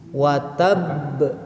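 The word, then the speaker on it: وتب: Watab, sebenarnya mah yang paling penting itu tekanan, kan ditekan. Setiap tasdid itu syiddah, kuat. Jadi cara bacanya harus kuat.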